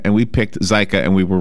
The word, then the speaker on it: Zika: right there this like Zika virus by the way which we now know how to pronounce it correctly yeah there's two ways to do it it's either zaika or Zika and we picked cyka and we were wrong